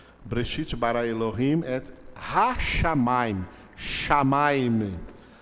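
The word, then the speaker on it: שמים: Shamaim. A palavra céu em hebraico se pronuncia shamaim.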